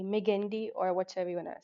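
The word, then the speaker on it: Magendie: And right in the center medally you have ferment of meandi. How do you uh spell it? M A G E N D I E. Meendi or whatever you want to say.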